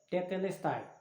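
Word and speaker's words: τετέλεσται: No grego, a pronúncia seria essa, tetelestai.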